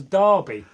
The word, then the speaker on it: Derby: as Darby yeah well this is an English spelling I assume you're from abroad Derby it's like they call a bowler hat a Derby I don't know why but Derby Lord Darby's the way we pronounce it I don't know how